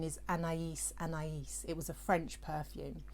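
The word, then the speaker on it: Anaïs Anaïs: a typical london an a no the correct pronunciation is anais anais it was a french perfume but it was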